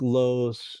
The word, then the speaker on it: Loos: Looks like loose, but it's Loos. I think that's how you pronounce it.